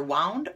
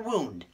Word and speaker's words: wound: i yeah i know c can be either wound or wound d can be either moped you know the